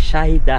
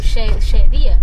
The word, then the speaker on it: Shadia: Your name is Shahida. How do you pronounce? Shadia. Shadia, oh sorry, Yeah, Shadia.